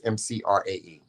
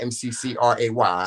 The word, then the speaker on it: McRae: It's McRae. It's not McCray.